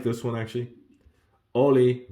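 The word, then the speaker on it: hola: like this one actually Ollie remember the H is silent in Spanish so Oli maybe you're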